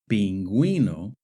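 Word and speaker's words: pingüino: Since the U is always silent in gu and gui, we must mark the U to let the reader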